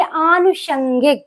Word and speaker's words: आनुषंगिक: धान ना कि अंतरध्यान आगे आनुषंगिक ये वर्ड बहुत पूछा जाता है आनुषंगिक और इसका जो एरर करते हैं एग्जामिनर वो क्या करते हैं आ को छोटा लिख देते छोटा बना देते हैं जबकि वो गलत हो अनुषंगिक नहीं होता है अनुषंगिक होता है तो यहां पर आपको याद रखना है कि यहां पर मात्रा लगेगी आनुषंगिक और यहां पर मुर्धन सा